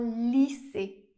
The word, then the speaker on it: lycée: Et enfin, la lettre I et la lettre Y font le son /i/. C'est un i assez long, le même i qu'on retrouve dans"cheese" en anglais par exemple. On va le retrouver dans des mots comme Paris ou bien un lycée. On peut même avoir les deux dans le même mot. Par exemple, avec le mot physique.